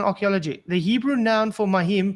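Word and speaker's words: מים: The Hebrew noun for mahim, pronounced mahim, is the word for water.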